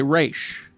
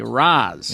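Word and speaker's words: Ra's: If you are part of the League of Assassins, you say Raish. As a sign of respect, the proper way to pronounce it.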